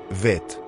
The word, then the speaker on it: Vet: Notons que la deuxième lettre, Beit, se prononce Vet, sans le point au centre.